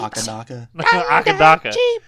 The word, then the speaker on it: AC/DC: Max 2 here, so please use the Australian pronunciation of their name. Dirty deeds. Akadaka. Akadaka, mate. Akadaka.